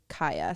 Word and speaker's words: Kiah: If this gets in, my name is Kaya. Sounds like your friend's name. Oh, Kaya. Kaya. It's cute. It's spelled Kiah. Kaya.